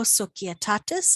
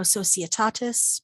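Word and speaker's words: societatis: of us know ano soquetatis i know in english we often say ano sociotatis but in latin that c is going to be hard hail and farewell uh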